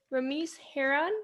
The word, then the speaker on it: Ramese Hearon: inspiring my generation and today i'm here with remiss herron did i pronounce that right correct okay and he is